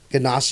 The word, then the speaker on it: ganache: Ganache. Yeah, that's Yeah. is that how it's pronounced?